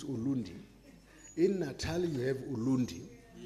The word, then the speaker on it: Ulundi: urundi and if you some people like the Zulus can't pronounce R they say l so urundi becomes ulundi in Natal you have